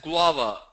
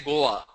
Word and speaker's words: guava: There is one word which a lot of people mispronounce. The fourth one, it's pronounced as guava. A lot of people say Goa.